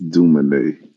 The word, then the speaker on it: Dumanet: It's Dumanet. Dumanet. Yes. Is that French? Yes, it's French.